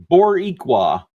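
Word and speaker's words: Boricua: lost chat # Moonpaw Nation and Paul it's pronounced Boricqua and roll roll the out of that R bor Borqua. All right, Boriqua.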